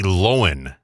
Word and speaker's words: Lohan: Like it's Lowen, Lowan. Yeah, because when you sent me this, I listened to it first and said, well, I've always been saying her name Lohan.